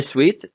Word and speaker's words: suite: be double or can be in suet a suite which is pronounced like the word Suite is a set